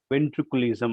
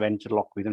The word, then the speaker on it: ventriloquism: because in international schools they pronounce it as a ventriculism or ventriculism. It's not a ventriculism, it's a ventriloquism. It's a Latin word.